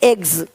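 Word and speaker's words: eggs: जैसे कि यहाँ पे रूप्स, यहाँ ज साउंड नहीं आएगा, लेकिन यहाँ पे एक्स नहीं एग्स। हीरोज, हीरोस नहीं, देख रहे हो, रुपीस नहीं रुपीज, ज का साउंड आ रहा है हल्का सा।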